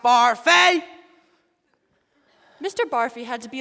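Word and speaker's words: Barfée: Barfy? It's pronounced Barfay.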